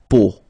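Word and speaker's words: peau: see it but then so the sound that you will have to pronounce when you've got the these three vowels combined together it's the sound O Okay so really simple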